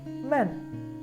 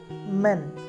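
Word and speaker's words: mand: So, M-A-N, man, can be pronounced as men. The spelling of men is M-A-N-D. Men. Men. Here, the last letter D is not pronounced or it is softened.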